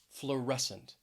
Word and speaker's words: fluorescent: hear the word crescent next is fluorescent fluorescent stress is on that second syllable fluorescent if you work in